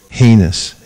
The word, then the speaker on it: heinous: Heinous. Look up deity. Rhymes with anus.